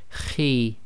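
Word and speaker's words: خِ: got a note here, heavy letter but not completely full mouth. So the pronunciation of this is Khi, Khi. So it's not a complete smile, and at the same time it's not a full mouth, i.e.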